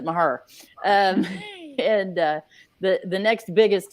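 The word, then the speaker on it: Mexia: her yeah if you're if you're originally from mahea you pronounce it maher and the the next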